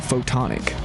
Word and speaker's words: Photonak: Coming up on State of Art, my interview with Anchorage band Photonak, spelled like photon, A-K.